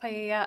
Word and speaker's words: paella: that was going to be used to cook paella. I'm not sure if that's how you pronounce it at the party. It's pronounced paella.